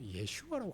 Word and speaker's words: 예슈아: 그 그 당시 예수님의 이름은 예슈아라고 발음됐죠. 근데 이것이 이제 번역 번역 번역을 통해서 우리나라는 예수라고 부르는 거예요.